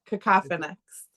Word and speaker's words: Kakophonix: Cacophinics.